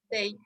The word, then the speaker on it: they: Entonces, la TH en inglés a veces suena como la D de dedo. Por ejemplo, ¿cómo se dice ellos? How do you say ellos o ellas in English? They. They, right? So sometimes it sounds like that. A veces suena como la D de dedo, they.